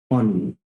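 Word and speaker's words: ennui: ठीक है, चलो नेक्स्ट वर्ड है हमारा ऑनवी। इसको पढ़ते हैं ऑनवी, एनयू नहीं पढ़ेंगे। ठीक है, इसका प्रोनाउंसिएशन होगा ऑनवी।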